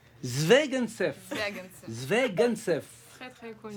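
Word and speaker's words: Звягинцев: Zvegantsev. Zvegantsev. Zvegantsev. Zvegantsev. Très très connu. C'est juste comme ça? Andrei Zvegantsev.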